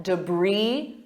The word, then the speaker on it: debris: debris after the storm and notice my pronunciation compared to the spelling debris e do you notice that debris Bri sounds exactly like bri cheese that's part of the